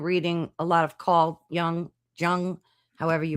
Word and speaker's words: Jung: been listening and reading a lot of Carl Young Jung, however you pronounce it. Carl Young.